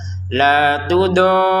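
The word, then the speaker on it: لَا تُضَارَّ: La tudorra, seperti itu cara bacanya ya. La tudor, panjangkan 6 harokat sempurna, baru tekan ro-nya karena di atas ro ada tasydid.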